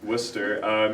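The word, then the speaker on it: Worcester: dictionary guy named Wooster that's that's how you pronounce it Wooster he wanted to retain the the old English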